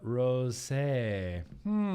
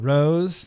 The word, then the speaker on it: rosé: Firestone Walker Bretta Rosé. Let's see. Bretta Rose. There's an accent on there, so I'm pronouncing it. I'm pronouncing it as a rosé.